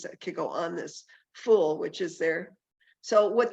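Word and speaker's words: ful: And I asked the chef what it was, and it's called fool, I think is how it's pronounced, F-U-L.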